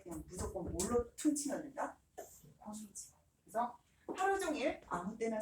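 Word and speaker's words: こんにちは: 곤니치와.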